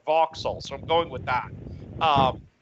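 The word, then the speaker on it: Vauxhall: in in in voxel I've been saying box all but lately I've been hearing people say it like like sorta more run together voxels so I'm going with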